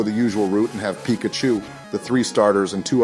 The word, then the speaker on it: Pikachu: surprise you and show you we named our Pikachu and honor you our first Pokémon and most